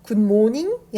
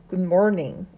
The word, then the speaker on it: Good morning: 이유는 r이 들어갔기 때문이에요 그래서 굿모닝이 아니라 Good morning 이렇게 돼야 됩니다 다시 읽어 볼게요 Good